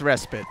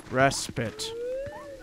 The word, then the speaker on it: respite: Oh, yeah, it's respite. I listened to one of those little, like, Google things that are all like, this is how you say it. And it said respite. So... respite.